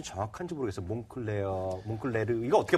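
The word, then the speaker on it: Moncler: 몽클레르 이거 어떻게 발음하는 거예요? 이거? 이게 프랑스 이게 발음이기 프랑스 때문에. 발음으로요. 이게 알 발음을 그렇게 다 하면 촌스럽고요. 몽클라 이렇게 해주시죠.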